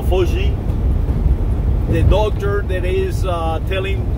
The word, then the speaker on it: Fauci: So right now, Mr. Fauci, or another Italian, Fauci, that is how it's pronounced, no Fauci, the doctor that is telling Trump what to do.